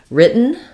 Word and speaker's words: written: question about the word written um so written is an example of where we use um an unreleased T and A cabic N um so the W is silent w r just says